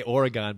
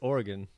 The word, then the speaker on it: Oregon: So today we have Nick Hazelton, who's coming in from Oregon. I want to say Oregon, but it's wrong, right? It's Oregon.